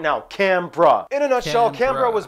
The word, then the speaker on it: Canberra: I'm still pronouncing it wrong probably. But Canberra, that's how they said it in the video. Canberra.